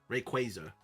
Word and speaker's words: Rayquaza: The Rayquaza pronunciation? I still say Rayquaza. Alright, but it's Rayquay with a Y. Quaza. Rayquaza.